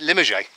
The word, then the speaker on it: Limoges: Sometimes he pronounces it Limoges.